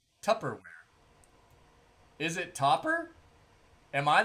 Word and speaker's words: Tupperware: fat pat yep yep made out of tubberware topperwear what's topperwear dude what is that is that how it's spell i thought it was t-u-p-p tupperware is it topper am